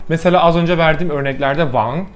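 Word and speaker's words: 王: Mesela az önce verdiğim örneklerde Wang, kral demek, ikinci ton mesela, yükselen. Ama Korece'de Wang, herhangi bir ton falan yok.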